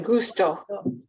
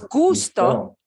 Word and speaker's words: gustó: La pronunciación otra vez, ¿sí? El énfasis. No es gusto. No me Gustó. gustó. No me gustó. Gustó. Eso es.